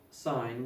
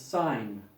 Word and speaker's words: sin: So we don't write sine, we just write S-I-N, and no, like this is not pronounced tan, this is not pronounced sin. This is tangent, this is sine.